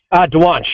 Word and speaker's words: Dwonch: Dwonch, yeah. Dwonch. Got to get the CH in there.